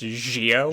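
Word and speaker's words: Zi-O: His name is spelled with a Zio, but it's pronounced Gio. Jo. Oh, Gio. Gio, almost like Geo. Some people actually pronounce it Geo, but it's pronounced Gio.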